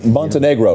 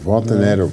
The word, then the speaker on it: Montenegro: But Diogo Montenegro recently. Very nicely pronounced, Tim. Thank you. Montenegro.